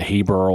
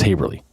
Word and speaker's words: Haverly: how to pronounce haverly, so they rhymed with neighborly, like neighborly, haverly. So the kids would, the younger kids would realize, because some people I think pronounce it Haberl or Haberly or something like that, but it's Haverly.